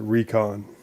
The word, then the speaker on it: Raycon: Before we leave, I know that it's spelled Rycon, but he actually says it Recon.